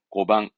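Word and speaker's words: 碁盤: 똑같아요 그러니까 바둑을 두는 쟁반이니 바둑판 얘기입니다 그렇습니다 발음은 고방 바둑판은 고방 바둑판은요 그렇죠 바둑돌이 되겠네 발음은 고이시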